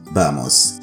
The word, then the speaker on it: vamos: মানে জানবো সেটি হচ্ছে বামস শব্দটি যদিও ভি দিয়ে লিখা কিন্তু এটার প্রোনাউন্সিয়েশন বা উচ্চারণটা কিন্তু বি এর মত হয় বামস গেম খেলতে বা